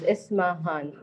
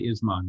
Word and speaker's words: Ismahan: Ismahan, please say, is your name 3 syllables or 2? It's three syllables. Ismahan.